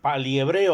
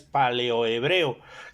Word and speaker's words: paleohebreo: y es acerca del paliehebreo, aunque la pronunciación correcta es paleohebreo.